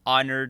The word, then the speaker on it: honored: members uh uh happy honored holiday uh it's weird that the H is silent kind of ruins it